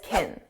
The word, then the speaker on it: can: Because this is an auxiliary verb, it's not the main verb. It's pronounced as kin kin. It's an unstressed sound.